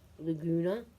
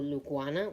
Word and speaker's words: Laguna: get to see the two colors especially the Laguna or lugana whatever way you want to pronounce it it pops out when it's daylight